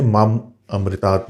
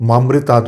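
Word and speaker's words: माम् अमृतात्: जैसे अंत में मैंने माम अमृतात् बोला है, इसे अक्सर लोग मामृतात् बोल देते हैं, जिससे इसका अर्थ ही बदल जाता है।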